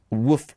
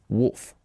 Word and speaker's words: wolf: no by the way here in pittsburgh we would call it woof's woofstone studio we we pittsburgh people uh people in pittsburgh pronounce woof really we say woof instead of wolf it's a weird thing uh but anyway yeah